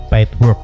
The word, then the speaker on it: Paidwork: Tahapan pertama ketikkan nama website-nya nama website-nya yaitu pidwork tulisannya seperti ini setelah sudah tertulis seperti ini ejaannya yaitu p a i d w o